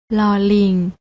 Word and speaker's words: ล: นี้ ค่ะ รอ เรือ ส่วน พยัญชนะ ตัว ที่ 2 และ 3 อ่าน ออก เสียง โดย ไม่ ต้อง กระดก ลิ้น อ่าน ว่า ล ลิง กับ ล จุฬา น้อง ๆ อ่าน